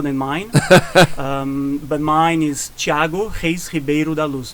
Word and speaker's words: Thiago Reis Ribeiro da Luz: But mine is Thiago Reis Ribeiro da Luz. That's how I would pronounce in Portuguese, let's say.